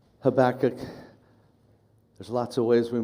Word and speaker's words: Habakkuk: writings of the prophet habach habach there's lots of ways we might pronounce it it's probably better pronounced habac with the emphasis at the beginning but we so commonly